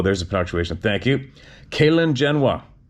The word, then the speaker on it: Gxalingenwa: The cave's name is, oh my God, oh, there's a punctuation, thank you, Kalingenwa, but it's spelled Gxalingenwa.